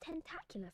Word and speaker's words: Tentacula: for a bet tentacula Tentacula, that's the pronunciation of that word. Tentacula. ta That vowel sound is the same we find in words like cat, for example. Tentacula. Tentacu la It ends with a schwa.